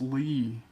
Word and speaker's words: li: fish keeping in China the Chinese word for carp is Lee it's spelled l-i carp were first bred